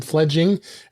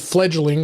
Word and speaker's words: Fledging: name I did I I called it fledgling I didn't know why but it is spelled uh f e f l e d g i n g so it's fledging um so uh uh